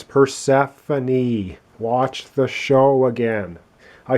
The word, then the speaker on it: Persephone: one is right here it should be pronounced persephone i've been calling it persephone oh my god i